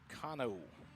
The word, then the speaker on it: Cano: Cano. Like Americano is how you pronounce Maddox Cano's last name.